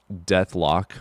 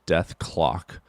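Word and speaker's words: Dethklok: Death lock pronounced death clock. Oh, I didn't see the K in there.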